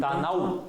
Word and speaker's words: танау: Танау. У здесь не гласный. Он здесь как «в» идет.